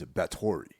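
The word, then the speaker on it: Báthory: So of course we have Delphine Seyrig as Countess Elizabeth, and the way they pronounce it is Bathory.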